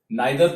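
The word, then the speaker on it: neither: आइदर और, नाइदर नॉर, नाइदर को नीदर भी प्रोनाउंस करते हैं, that is द correct pronunciation, but in India we pronounce it नाइदर.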